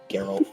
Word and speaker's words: Geralt: Geralt, soft G.